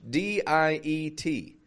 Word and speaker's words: diet: also coming from French d i e t notice I'm not saying diet diet but instead I'm starting strong diet diet strong week I so